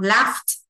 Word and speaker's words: laughed: đọc phờ tờ này, laugh, laugh phờ tờ này, cái đuôi gh nó đọc là âm phờ phờ thì chúng ta phải đọc là tờ ED, laugh.